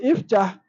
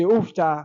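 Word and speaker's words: افتح: We say iftah, and we don't say after, we don't say ufta. No, it is iftah.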